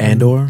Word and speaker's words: Andor: note okay so the andor trailer am i pronouncing that right and or and or you're the star wars guy not me yeah i believe it's andor okay uh so and